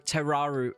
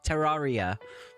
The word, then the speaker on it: Terraria: Ter Terraru. Terraria. Terraria. Terraria. There we go. Terraria.